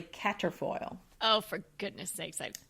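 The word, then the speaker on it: quatrefoil: f o i l so you'll want to say quatra foil but it's really cater foil oh for goodness sakes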